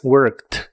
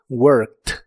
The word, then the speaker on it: worked: En el pasado es worked. La e d del final de esta palabra se pronuncian como t. worked.